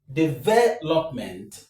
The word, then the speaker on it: development: Develop. This is the root word, and the stress is on ve. So, if you add the m e n t, all together we have development.